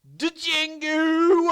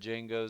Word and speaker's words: Django: is also a Western I'm gonna butcher the actual way this is pronounced cuz I really don't know bombs could have pronounced the way it's spelt de Jing gu Unchained Django go yes Django Unchained Django from Quentin Tarantino hell